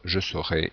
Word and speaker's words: saurai: je saurai et cetera ici la prononciation doit être bien précise pour différencier je saurai du verbe savoir et je serai ou je serai simplement si on parle vite du verbe être alors autre mode c'est